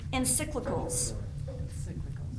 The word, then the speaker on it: encyclical: very good um the the pronunciation should you ever need this is encyclicals encyclical I mean it's not